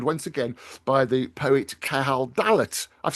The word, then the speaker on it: Cahal Dallat: say I'm joined once again by the poet Cahal Dallat.